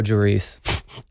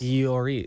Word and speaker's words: Lloris: And my wife responded with, it probably starts with a Y sound like yours. Lloris.